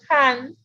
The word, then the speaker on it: Hund: Se escribe, se pronuncia Han y se escribe H-U-N-D, que ustedes lo tienen en su apunte.